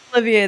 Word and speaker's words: Olivier: of America, Great Britain, so I refuse to pronounce it properly. What are you talking about, brother? Olivier, though. What do you mean, what am I talking about? He's Oliver to me, baby.